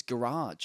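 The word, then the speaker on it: Gearóid: brothers, Gerard McNaird, or you know how you say his name? Actually, Go. I found out off Lowe yesterday. It's Garage.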